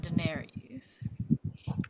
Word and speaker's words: Daenerys: And Viserys and Daenerys.